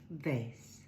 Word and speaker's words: vase: We have a silent E at the end that makes the A say its name. Space. And the silent E. Vase.